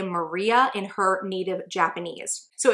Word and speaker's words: Marie: own name in videos, it is pronounced in 3 syllables, not 2, and it's pronounced more like we would say Maria in her native Japanese.